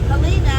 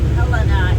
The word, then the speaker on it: Helena: blower I don't know so helina is the state capital you would think you would be but nope Helena is and I believe that's what